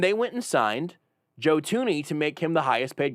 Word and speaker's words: Thuney: Last name pronounced Thuney, not Thuney.